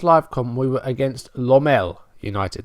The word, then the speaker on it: Lommel: That's how you say it. So my title, Pummel Lommel, didn't really work because it wasn't really a rhyme. It was a half rhyme. If it had been pronounced Lommel, then yeah, that would have been fine.